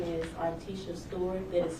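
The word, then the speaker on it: Artesha: Uh, my name is Articia Stewart. That is spelled A R T E S H A Stewart.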